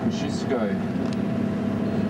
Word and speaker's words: Kosciuszko: He named Mount Kosciuszko, or Kosciuszko, pronounced a little bit more correctly.